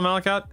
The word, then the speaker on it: malachite: Is that is that is that how you spell malikite? Uh malachite. Is that how you pronounce that word?